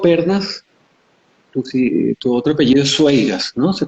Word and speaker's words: Sueiras: Octavio Pernas, tu otro apellido es Sueiras, ¿no? ¿Se pronuncia así?